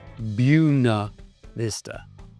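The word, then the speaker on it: Buena Vista: It's spelled like the Hispanic phrase, but it's pronounced buna vista because it's Latin.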